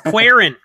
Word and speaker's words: Cuarón: I can't say it like that and sound as cool as you. It's Cuarón.